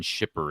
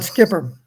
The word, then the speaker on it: Schipper: Somebody in the chat asked if you know who Shipper is. Skipper. I'm sorry, Skipper. Okay, I'm Yes.